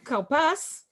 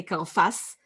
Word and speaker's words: karpas: You can't do karafs. And because you separate the syllables, karpas, you need to put a dagesh in the pay. You can't say karfas, because after shva, after a silent shva, shva, non-mobile shva, you